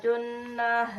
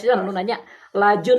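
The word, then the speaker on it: جُنَاحَ: La junaha junaha la junaha. Eh juna, jangan dibaca lajun. Jangan bilang dijunkan, tapi la juna, silakan.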